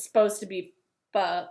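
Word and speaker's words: phở: It's PHO, but it's really pronounced, it's supposed to be pronounced pho, but we call it pho. Anyway, just in case anybody was wondering. My husband calls it pho.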